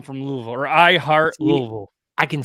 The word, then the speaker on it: Louisville: I'm from Louisville, or I heart Louisville.